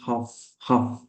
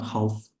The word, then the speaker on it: half: We didn't see the first half. It's not half, it's half. There is a silent letter.